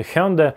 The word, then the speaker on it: Hyundai: Я посмотрел в Википедии, это Hyundai . В английском языке это звучит очень похоже на слово Sunday (воскресенье).